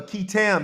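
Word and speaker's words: qui tam: And if anybody know what a KAM is, KAM is spelled Q UI T A M is a legal action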